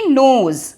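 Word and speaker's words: knows: के अंदर बट शी नोज लेकिन वो जानती है के एन ओ डब्ल्यू एस नोज में के का क साउंड साइलेंट होता है वो जानती है शी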